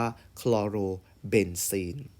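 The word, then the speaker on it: คลอโรเบนซีน: หรือ ยัง สาย ของ เขา ออก เป็น เสียง โอ นะ ครับ เพียง เช่น คลอรีน ก็ จะ ใช้ คำ ว่า คลอง โล แล้ว ตาม ด้วย คำ ว่า เป็น ซีน เพราะ ฉัน ตัว นี้ ก็ จะ อ่าน ว่า คลอ โร เบน ซีน นะ ครับ เช่น เดียว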